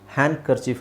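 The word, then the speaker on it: handkerchief: ಆಗುತ್ತಲ್ಲ ಬಟ್ ಇಲ್ಲಿ ಹ್ಯಾಂಡ್ ಕರ್ಚಿಫ್ ಒಟ್ಟಿಗೆ ಬಂದಾಗ ಡಿ ಸೈಲೆಂಟ್ ಮಾಡ್ಬಿಟ್ಟು ಹ್ಯಾಂಡ್ ಕರ್ಚಿಫ್ ಅಂತ ಹೇಳಿದ್ರು ಸಾಕು ಅದೇ correct pronunciation ಹ್ಯಾಂಡ್ ಕರ್ಚಿಫ್ ಡಿ ನ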